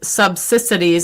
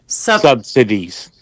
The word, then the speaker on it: subsidies: know, the Dems also tried to use Obamacare subsidities. I can't say that. Sub how do you say it? Subsidities. Yeah, subsidies.